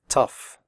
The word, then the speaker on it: tough: pronounce the word correctly the 0 ugh in tough is pronounced off like in stuff tough recipe if you have